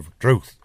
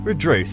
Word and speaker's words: Redruth: When you got that unstressed first syllable, it does, in the sounds of the older people, virtually disappear. So you'll hear Redruth, you'll hear Penzance. The first syllable is scarcely heard.